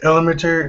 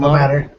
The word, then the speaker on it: Ilmater: But he was rescued by a paladin of, I can't really pronounce it, Illimeter or Ilmater. Ilmater.